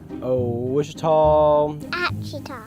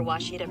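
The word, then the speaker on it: Ouachita: Uh, I've heard people say, "Oh, O Wita." Oh, Aita. Is it pronounced Oita? Searching for Washita Baptist University.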